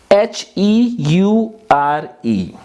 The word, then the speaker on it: heure: Now remember, in French H is never pronounced. So H is always silent. So we will start from EURE, and EU gives A sound. So it is EU is A, R is R, E will not be pronounced.